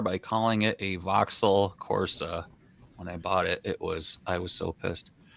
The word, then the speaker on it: Corsa: And you pronounce it Vauxhall Corsica? Corsa. Corsa?